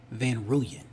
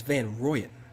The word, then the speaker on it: Van Rooyen: I thought it was Van Rouyen. It's Van Rooyen.